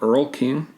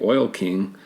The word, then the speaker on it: Earl King: However, it was meant to be pronounced the Oil King, a pun on the fact that J.D. Hackensacker was based on John D. Rockefeller, the president of Standard Oil, who was known as the Oil King.